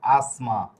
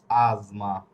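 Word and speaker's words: asma: ইজবালি আজমা কিন্তু বাংলা উচ্চারণ করলে এটা হয়ে যাবে আসমা। কিন্তু এটা হবে আজমা। আচ্ছা।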